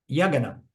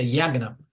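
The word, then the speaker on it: yajña: importante esse conceito do yagana eu eu tendo a a a a pronunciar yagan mas eu acho que o correto é yagna e diz yagn ou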